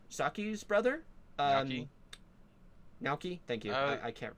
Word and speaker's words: Naoki: Oh yeah, and Naoko, Saki's brother. Naoki? Naoki, thank you. I can't pronounce these.